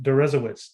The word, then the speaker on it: Deresiewicz: William Deresiewicz. Did I pronounce that right?